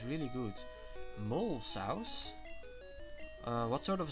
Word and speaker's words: mole: Mole sauce? What sort of a sauce is that? Is it made from moles? It's pronounced mole.